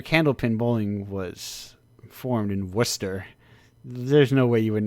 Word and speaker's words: Worcester: it like I read it as war sester or something like yeah exactly no that's Worcester that's Worcester it's a